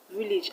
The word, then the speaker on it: village: is underlined is a village i already told you that the a will be pronounced as e shot e now let's look